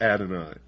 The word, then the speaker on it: Adonai: Pike continued, quote, "The true and pure philosophic religion is the belief in Lucifer, the equal of Adonai," unquote. Adonai also spelled, well, in the first place here it's spelled A-D-O-N-A-Y, and he says Adonai, also spelled A-D-O-N-A-I, is the Hebrew word for God.